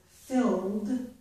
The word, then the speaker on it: filled: We don't pronounce the E. So the last sounds in this word, filled, are O and D.